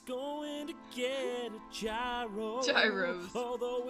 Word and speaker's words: gyro: Gyros. Although it's I can't believe I said technically gyro. pronounced gyro. Although I still wanna call it a gyro 'cause it sounds cooler.